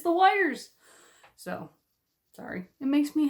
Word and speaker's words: Weyr: But then I had to repeat some of the colors because there was lots of wires. And a wire is where a dragon sleeps. That's spelled Weyrs.